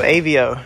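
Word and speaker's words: Aveo: uh 2008 chevy of avo avo how you spell it say it a v e o avio this car is actually made by daewoo it's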